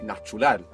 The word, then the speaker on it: natural: You want to think how is it written and pronounce the letters as they are. So how do you think you would say natural in Spanish? Natural. Natural. Good, that's a T. So you pronounce a T.